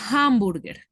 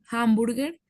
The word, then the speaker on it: hamburger: Y acá, hamburger. Hamburger pues sigue siendo igual consonante, suena como una J, hamburger.